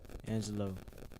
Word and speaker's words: Angxlo: But today we have Angelo. Angelo with an X. Go ahead and spell that out.